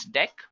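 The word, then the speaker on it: deque: next one that we have which is actually deck guys it is written as DQ but we can pronounce this as deck now talking about deck what actually it is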